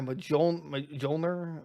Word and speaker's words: Mjolnir: My PS5, my Mjolnir. That's how you pronounce it.